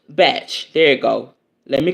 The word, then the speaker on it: Bach: boo it's Dr Edward batch it's BAC okay uh though a lot of people understandably pronounce it as they do the composer's name that's crazy well call